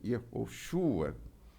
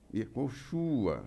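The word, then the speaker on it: יהושע: Yehoshua, filho de Num, Yehoshua, é até difícil pronunciar, porque é Yeho. Esse Ro aí é Yehoshua. É quase inaudível o som, mas fica Ro, não é forte assim. Yehoshua. Yehoshua.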